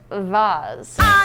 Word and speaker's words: vase: was given to us it's pronounced Vaz it was given to